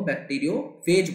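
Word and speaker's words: bacteriophage: आप क्या बोलते हो, बैक्टीरियो फेज बोलते हो, काफी लोग इसे बैक्टीरियो फाज भी कहते हैं, सो no issues in that, वो आप अपने हिसाब से प्रोनाउंस कर सकते हैं, उसमें कोई हार्ड एंड फास्ट रूल नहीं है।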